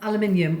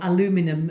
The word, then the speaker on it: aluminium: cartons have got lined with an aluminium or aluminum as they as the Americans say and this turf this